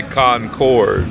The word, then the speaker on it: Concord: Proper way to say it. We say Concord.